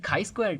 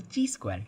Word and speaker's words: chi-square: And the next thing is the chi-square test, or also called as the chi-square test. You can pronounce it both ways.